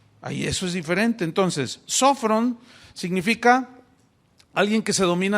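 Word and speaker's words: σώφρων: del griego sofron sofron tiene acento en la primera o sofron y sofron que se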